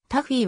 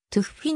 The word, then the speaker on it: Tuffi: 有名になったなおタフィーはおそらく英語風の発音と思われるが現地のドイツ語ではずフィに近い発音で呼ばれている 1950 年 7 月